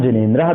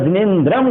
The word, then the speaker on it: जिनेन्द्र: इसलिए अर्थ उच्चारण करते हुए आपको ध्यान रखना है, करोतु शांतिम भगवत जिनेन्द्र या भगवान जिनेन्द्र दोनों सही हैं, पर जिनेन्द्रम गलत हो जाएगा, जिनेन्द्र बोलना है।